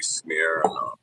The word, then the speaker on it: Smyrna: The correct pronunciation would be Smyrna. Smyrna.